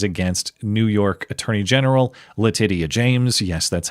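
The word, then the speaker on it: Letitia: they brought charges against New York Attorney General Letyia James. Yes, that's how you pronounce her name.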